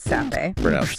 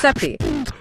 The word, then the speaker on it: Sappi: It's created by Sappi. Pronounced sepi.